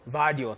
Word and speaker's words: Gvardiol: And I don't see enough quality in their defense with Josko Gvardiol. Is that how they pronounce it? Yeah. Gvardiol, thank you.